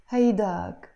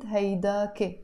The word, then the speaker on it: هيداك: Hayda, haydak, haydak. But we can also pronounce it haydake. It's exactly the same meaning, haydak or haydake.